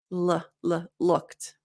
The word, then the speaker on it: looked: Looked, looked. So we have the k t, looked. So you should feel it here.